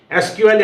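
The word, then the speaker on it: SQL: structured query language जिसे एसक्यूएल या तो सीक्वल कहा जाता है प्रोफेशनल लोग एसक्यूएल थोड़ा बोलना ठीक नहीं समझते तो वो सीक्वल कहते हैं तो सीक्वल प्रोनाउंस होता है एसक्यूएल का तो सीक्वल यहां पे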